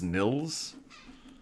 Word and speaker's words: Niels: find out all right it's Neil no I think it's pronounced Nils Nils Bohr there we go